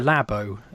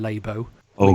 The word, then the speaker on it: Labo: which is the Nintendo lab Oh which I'm assuming it's lab Oh rather than labor oh goodness yeah Oh already